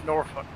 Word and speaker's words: Norfolk: No, Norfolk is Virginia and it's Norfolk. The L is silent.